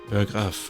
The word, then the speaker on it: Berggraaf: Okay, Berggraaf is how you say it in Dutch. It's a valiant effort. Let's move right along. How do you say it in the correct Dutch way? Oof, pressure. Berggraaf. Berggraaf.